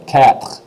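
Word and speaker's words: quatre: cat cat cat cat so it sounds like cat meow cat but to your American ear that's close enough for now but eventually you're going to be really good and you're going to go cat and you're actually going to roll that R and everybody will hear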